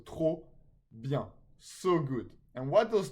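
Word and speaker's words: trop: genal perfect then here the p of tro is silent okay so tro so good and what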